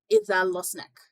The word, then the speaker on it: Izalosnek: Yes, it's Izalosnek. And how would you spell that?